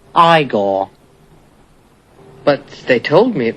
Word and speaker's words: Igor: I see you must be eor now it's pronounced igore but they told me it was eigor well they were wrong then weren't they uh